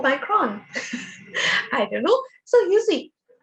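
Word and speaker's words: Omicron: how you pronounce it some people say oh me kron i would not say or micron i don't know so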